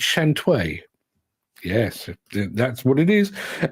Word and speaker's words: Shantui: And our final film is not Shantui, it's Shantui.